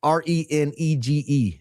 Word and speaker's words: renege: That's Renege, if you ever spell it in the future. Renege. Neg, like egg.